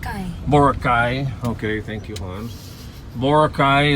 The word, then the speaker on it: Boracay: Like Boracay, or I don't know if I'm pronouncing Boracay. Boracay.